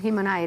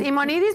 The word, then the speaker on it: Himonides: Si en español es Imonidis porque la H no se pronuncia. Mi papá decía Himonides y se apellidaba Himonides Barcolas, que es más griego todavía, ¿no? Barcolas, pero en español es Imonidis Barcolas, ¿no?